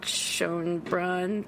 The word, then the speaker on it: Schoenbrun: So that's my Jane Schoenbrunn, that's how you pronounce it, story.